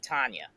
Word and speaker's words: Tanya: are like Tanya, and I'm like, it's Tanya. No, it's Tanya because you spell it T A.